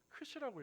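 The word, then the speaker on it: Χ: 우리가 이제 X라고 보이는데 어 사실이 X라고 하는 것이 그 헬라어 언어에 보면 알파벳 헬라어로 알파벳은 저게 크이라고 읽어요.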